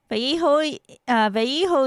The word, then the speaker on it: Vallejo: I know it's pronounced VJO, but Wait, how did he pronounce it?